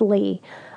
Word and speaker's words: Lea: And it's L-E-A, even though it's pronounced Lee Ellermeyer.